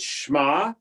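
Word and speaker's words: שמע: So you'll see that Shema, right, is a one syllable word.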